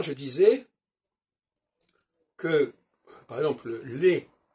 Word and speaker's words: les: Tout à l'heure, je disais que, par exemple, les, L-E-S, on prononce, on dit les et pas, on prononce on prononce pas le S dans les.